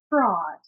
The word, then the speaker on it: fraud: Fraud, fraud. The mouth just opens. There's no ooh. It's not fraud. It's just fraud, fraud, fraud.